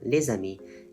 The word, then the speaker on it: les amis: For example, in les amis, the friends, the normally silent S and les is pronounced, turning it into something like les amis when read aloud.